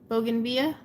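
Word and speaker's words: bougainvillea: that okay so it's bogan bogan vida via is that how i'm supposed to say it bogan via i'm from california we know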